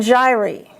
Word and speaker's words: gyri: Gyrus and gyri. And be careful if you look that up in a non-medical dictionary because it's incorrect. But I just gave you the correct pronunciation.